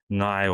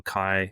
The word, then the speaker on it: Ngāi: So just for listeners abroad, Ngāi or Kai. So Kai is just the Ngāi Tahu dialect, which pronounces the NG as the K, but Ngāi or Ngāti